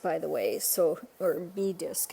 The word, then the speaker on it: bi-disk: the way so or B disc it's called I keep pronouncing it by disc because it's spelled b i and then disk but it's actually pronounced B disc I can barely walk